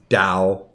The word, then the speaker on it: Tao: yeah yeah and it's and it's Dow would you quit that's how it's pronounced oh the goddamn tea